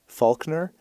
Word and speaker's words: Falconer: Now, okay, so I think his last name is supposed to be pronounced Faulkner, but it's spelled Falconer. Yeah, Faulkner.